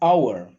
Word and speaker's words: hour: It took an hour. The H is silent.